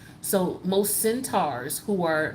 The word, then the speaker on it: centaur: centurion centurion figures um centaurian excuse me i'm saying it wrong not centurions that's a totally different situation centaur okay t-a-u-r a centaur um their half they start